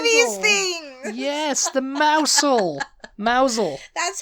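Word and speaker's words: Mousehole: country down to Cornwall Ary down to Cornwall mousel mousel mous mousel yeah you got it yes it's m you get a character and you can do these things yes the mouse mousel that's how Hagrid would say it mous yeah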